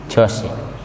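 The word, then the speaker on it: George: Tulisannya Georgi. Nah, Georgi. Bacanya apa? Jos.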